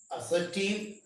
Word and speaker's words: assertive: You must pronounce it as assertive.